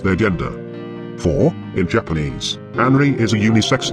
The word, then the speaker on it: Anri: For, in Japanese, Anri is a unisex name. Well, actually, there are several homophonous versions of this name with different meanings of elements that are pronounced as An and Ri, which together may be